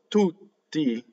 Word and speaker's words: tutti: Notice that there are two double T's. The word is a strong monosyllable. So you have a double T at the beginning and you have a double T in the middle. But how do we do double T? We do two T's.